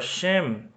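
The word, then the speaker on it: שֵׁם: Aqui temos mais uma palavra, a palavra shem, né? Ó, o shin, que é o SH em vermelho, o sere, os dois pontinhos, a vogal E e o mem final, letra M.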